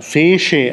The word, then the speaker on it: fece: Wird dann Fece ausgesprochen, weil das, also eigentlich müsste es Tsch sein, aber in Mittelitalien schwächt sich das Tsch zwischen Vokalen ab und wird zu Sch.